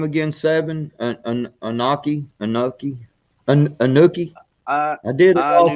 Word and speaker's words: Anunnaki: Anuki? Anuki? I did it all for the Anunnaki. Okay. Anunnaki.